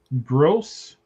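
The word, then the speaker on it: Grosz: Uh, they traded for a guy, Josh Gross. G- R O S Z is how the guy's name is spelled.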